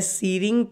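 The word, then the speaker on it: Tshering: है जिनका नाम है सीरिंग ताशी देखो टी इनके में साइलेंट सा होता है सीरिंग ताशी इनका नाम है इन्हें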